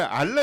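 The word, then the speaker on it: Alan: 앨런 스미스를 알란 스미스. 알란 스미스. 알란 스미스. 이게 근데 생각해 보면은 영국식 발음으로 생각한다면 알란이 맞을 수도 있어요.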